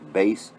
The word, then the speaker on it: bass: It's spelled bass, like bass fishing, you know, but it's pronounced bass.